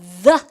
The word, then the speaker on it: the: 그런데 우리가 쓰가 아니라 the 이렇게 하시면 th 발음이 요렇게 있는데 여러분들 얘는 굳이 우리 생님 어릴 때 이걸 막 폭탄 발음, 곱추 발음 이렇게 얘기했는데 잘 보세요.